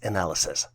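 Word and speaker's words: analyses: n a l y s s and is pronounced as analysis some might argue that attempting this problem is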